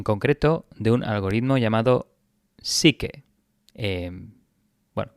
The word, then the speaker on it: SIKE: Bueno, yo creo que se pronuncia así en español, igual en inglés lo pronuncian psyche, como la psique, la psicología, ¿no? Pero bueno, Psyche, lo vamos a dejar en Psyche en español.